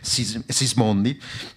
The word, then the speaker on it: Sismondi: Oui, la loi Sismondi, j'en avais compris parce qu'en tant qu'italienne, je le prononce Sismondi.